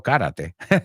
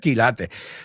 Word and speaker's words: quilate: Quilate. No karate. Quilate.